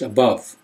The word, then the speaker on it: above: differently, like example 39, it's not above. You'd think it should be if you follow the rules, but it's pronounced above, like a short U.